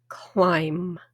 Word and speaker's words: climb: Climb. Climb. C l i m b. The b is silent.